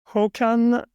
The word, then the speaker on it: Håkan: How do you pronounce it? Håkan and Raimo.